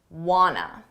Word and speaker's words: wanna: Want to becomes wanna.